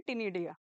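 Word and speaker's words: Ctenidia: जिसको क्या बोलते हैं तिनिधीय ठीक है तो इनकी फेदरली बिल स्कोर हम क्या बोलेंगे तिनिधीया उसे इसमें सी क्या है साइलेंट है तिनिधीया ठीक है और लक्स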